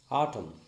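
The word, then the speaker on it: autumn: sound will be only the letter n is silent for example a u t u m n atom it is not automata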